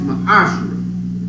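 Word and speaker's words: מעשר: in the hebrew and it's pronounced my ashrae a tenth of every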